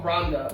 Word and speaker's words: Rwanda: Does Rwanda or Rwanda? It's been pronounced differently.